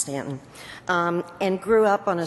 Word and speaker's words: Staunton: Now, Frances was born in Stanton, if you're from Virginia, spelled Staunton, pronounced Stanton, and grew up on a small farm.